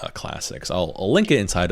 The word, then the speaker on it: clsx: I pronounce it classics.